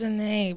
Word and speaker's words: Zhanae: I like how the Zhanae, it's a little fancy. Yeah, like Zhanae Monet, or what's her name? Zhanae Monet. Yes. Yes. A little accent on it.